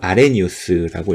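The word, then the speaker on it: Arrhenius: 영어로는 아르헤니우스라고 적지만 이때 H가 묵음이에요. 그래서 아레니우스라고 읽고요.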